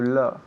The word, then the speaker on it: love: To love. Okay, muy bien. So, el verbo aquí es to love. To love. L-O-V-E, pero esa O se pronuncia como que, como si fuera una A.